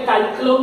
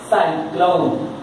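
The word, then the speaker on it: cyclone: बाद वाला letter Y, तो यहां पे काइक्लोन नहीं पढ़ना, साइक्लोन सा आई, इसको ठीक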